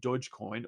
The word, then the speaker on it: Dogecoin: surgeon Deutsche coin pronounced Deutsche coin with a soft G sound also concides with rumors